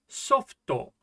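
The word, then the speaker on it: ソフト: How is this pronounced? This is softo, which of course means soft, but you can also use it for software, like software for your computer.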